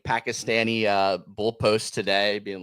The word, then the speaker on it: Pakistan: I gota Well, and Ry, it's actually it's Pakistan. Pakistan is the right pronunciation.